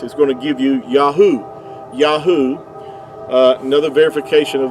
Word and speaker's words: Yahuah: the three letters uh Yahoo would give you the sound um these three letters here the Y the yod Y and the he and the UA would give you Yahoo and even Benjamin netan